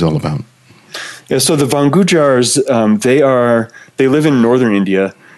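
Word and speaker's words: Van Gujjar: The tribe, they're called Vangujars. Vangujars. So it's two separate words. Van is spelled like a van you would drive around in, and Gujar is the second part of that.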